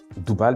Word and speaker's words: Doubal: Le débène, c'est-à-dire le Doubal, on pourra dire Doubal maintenant, puisque c'est sa vraie prononciation, car débène, je l'ai dit, c'est une convention, est subdivisé en 12 senyus ou chat.